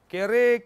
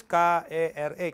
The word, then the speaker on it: kere: Jadi bahasa Kreol itu adalah bahasa Portugis yang diucapkan dan ditulis seperti yang diucapkan. Contohnya kere. Kere kita tulis K-E-R-E, kere.